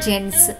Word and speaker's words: gents: చోట్ల చూసి ఉంటాం మరియు దీని ఉచ్చారణ అవుతుంది జెంట్స్. మీరు ఆలోచిస్తూ ఉండవచ్చు, మనం జి యొక్క శబ్దం ఘ అని నేర్చుకున్నాం, మరి ఈ పదం యొక్క ఉచ్చారణ గెంట్స్ ఎందుకు కాదు? పిల్లలు ఒక నియమం గుర్తుంచుకోండి. నియమం ఏమిటంటే జి తర్వాత ఎప్పుడైనా ఈ అక్షరం వస్తే అప్పుడు ఎక్కువ పదాల్లో జి యొక్క శబ్దం ఘ కాకుండా జ అవుతుంది.